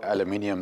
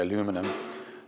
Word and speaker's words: aluminium: when you just see the raw aluminium there or as the Americans say aluminum um it's just so